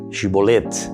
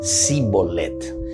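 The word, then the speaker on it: שיבולת: de la pronunciación de la palabra hebrea, shibolet, espiga de trigo, shibolet, que los efraimitas pronunciaban sibolet.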